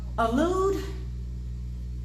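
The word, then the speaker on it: Elul: Oh Lord, do they even know what the word allude means? They just walking around E-L-U-L. That's how you spell it. You say it like that's allude.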